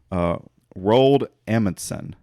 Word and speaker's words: Roald Amundsen: You know, the South Pole was reached by Norwegian explorer Roald Amundsen. Okay. I think that's how it's pronounced.